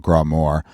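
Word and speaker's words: grá mór: love or great love, gra more. This is gra more. So like instead of raw, but it's pronounced gra, and then that's more. It's in the Irish language.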